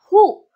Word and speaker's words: who: bahas satu persatu ya Hu hu bacanya bukan W tapi h artinya siapa H digunakan